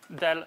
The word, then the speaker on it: del: So, let me just tell you quickly about the del notation. So, this guy usually pronounced as del rather than as, pointed triangle going downwards or something like that.